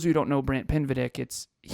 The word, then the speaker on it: Pinvidic: And for those of you who don't know Brant Pinvidic, Kevin pronounced it Brant Pindivic right out of the gate on that interview.